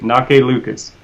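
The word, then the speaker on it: Anneke Lucas: Anake Lucas. It looks like Anarchy, but it's pronounced Anake. Anake Lucas.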